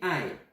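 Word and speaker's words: 爱: le verbe aimer d'amour, qui est ai, comme aïe aïe aïe la prononciation. Je t'aime, eux ils vont dire je aimais toi. Wo ai ni.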